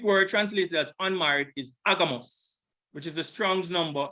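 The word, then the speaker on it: ἄγαμος: So it is agamos. This is the pronunciation. Strong's G22, agamos.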